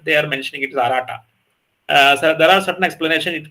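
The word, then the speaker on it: Aratta: No, the Mahabharata, actually the proper pronunciation is Arata.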